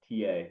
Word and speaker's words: Oneonta: Lance, what you were just talking about off the Oneana. Susquehanna? Oh yeah, yeah. You can look up Oneana. Oneonta.